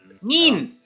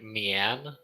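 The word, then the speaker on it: mien: mean. Mean. Okay. A helm of fearsome mean. Yeah, I was gonna say, it sounded like you were saying Mian.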